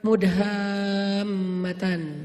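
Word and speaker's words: مدهامتان: Namanya surga Mudhammatan. Bacanya juga harus panjang karena dia rimbun banget. Sehingga bacanya Mudhammatan.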